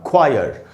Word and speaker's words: choir: इनके बाद अगर H होगा तो वो अक्सर साइलेंट होता है। कैसे? जैसे ये वर्ड है दोस्तों, CHOIR, ख्वायर।